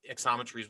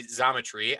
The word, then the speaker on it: Xometry: to take work from Exometry's website or as I should say Zometry. I do pronounce that wrong. There is no X as I've been scolded for the last week.